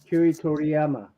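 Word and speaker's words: Akira Toriyama: Kiri Toriyama.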